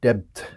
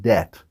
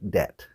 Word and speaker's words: debt: like having credit card depth I don't like having credit card depth did you hear it the problem is another silent letter we don't pronounce the